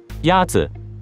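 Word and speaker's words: 鸭子: Yatsi is pronounced with a first tone. In Mandarin, there are four tones, which are essential to distinguish the meaning of words. The first tone is a high, level tone.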